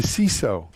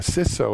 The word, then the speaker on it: CISO: TV features Matthew Newfield Matthew is the seaso or sis so is some pronounce it I vote we said C so C so C so tomato tomahto anyway matthew is this is